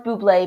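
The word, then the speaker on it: Bublé: And I know it's Bubé, but it's spelled Boo, so that's what I'm going to say.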